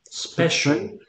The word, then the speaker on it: special: Especial, Special. La I es especial. muda. La I es muda. Y como una sh.